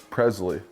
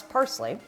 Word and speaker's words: parsley: I thought maybe garnish I thought that was Presley so actually pronounce parsley oh parsley Presley same